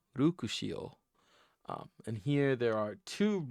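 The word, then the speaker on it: ルクシオ: Here we have Luxio as we think of him, but here we see it uh, pronounced as Rukushio. Rukushio.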